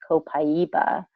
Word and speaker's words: copaiba: skincare I'm happy that Mac now this is copaiba or sometimes you'll hear people say cabeza but it's meant actually properly pronounced copaiba now this is actually taken from the resin